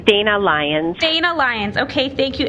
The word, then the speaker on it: Dana Lyons: of your last name i think i have miss leon missy on with us good afternoon madam chair it's dana lyons dana lyons okay thank